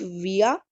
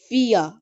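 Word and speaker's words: vier: dry English Willard Drive V ie4 and it's pronunciation is Fria not via fear fear fear f u NF is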